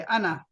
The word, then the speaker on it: أنا: इसका जो आखिरी अलिफ है ये साइलेंट है। अना, अना मीन्स मैं।